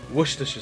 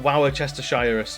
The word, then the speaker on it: Worcestershire: to spell worcestershire sauce it is just wooster it's like a rooster with a w it's a worcester sauce because you don't have to don't worry about the the shy a bit of it and don't worry about how many letters are in that word you can ignore most of them yeah it's just rooster it's worcestershire it's not wow chester shires just which we should watch